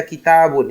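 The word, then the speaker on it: كتاب: Hati-hati dalam membaca kitabun. Ini huruf tanya dipanjangkan. Ya, kalau tidak dipanjangkan nanti bisa berubah arti.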